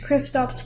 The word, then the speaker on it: Kristaps: So you got Mavs winning tonight, but I'm thinking if Krista shows up, they're going to be all over it. Did I pronounce his name wrong again? Yep. What's his name? Kristaps Porzingis.